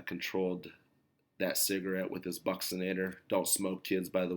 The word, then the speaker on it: buccinator: a small muscle embedded in our cheek and pronunciation is interesting it's the buccinator the buccinator is a small muscle and it